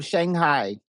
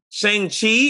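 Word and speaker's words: Shang-Chi: Um Shanghai. Shang Chai. Shang Chi. Is that what you're trying to say?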